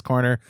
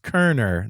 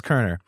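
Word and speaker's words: Koerner: Keep up the good work, Corner, Madison, Indiana, and I'm sorry. And then he said, pronounced Kerner. The O is silent.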